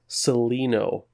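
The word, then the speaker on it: Celaeno: Network in the chat says it is pronounced Seleno. It's Greek.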